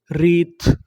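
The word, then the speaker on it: wreath: डब्ल्यू आर इसे क्या पढ़ेंगे? रा इ ए री टी एच थ रीत। रीत। रीत का मतलब होता है फूलों की माला।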